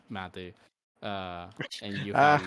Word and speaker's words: mate: care it's really tasty mat the thing is not matcha mat okay can you can you spell it yeah it's spelled like mate m a t oh